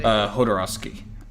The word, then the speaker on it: Jodorowsky: Jodorowsky.